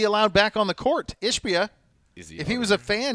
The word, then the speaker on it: Ishbia: And then the owner, how do you pronounce it? Ishbia? Ishbia, yeah.